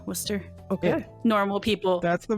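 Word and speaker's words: Wooster: it's spelled for no ours is w o o s t e r wer okay normal people that's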